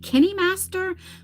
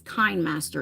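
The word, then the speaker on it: KineMaster: I don't know if it's it's pronounced I heard people pronounce it Kenny Master, but I pronounce it as Kindm.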